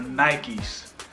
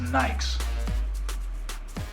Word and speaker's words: Nikes: cuz I wasn't sure I didn't realize the actual pronunciation for the shoes were Nikes Ron st. Louis they were just nice that's that's the way